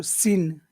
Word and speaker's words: sinister: and Sinister and um how many syllables are in that word sinister s sinister sinister three okay which syllable should we really make stand out uh so Sin Sin that's right sin so we'll make that big we'll make that bigger and also looked you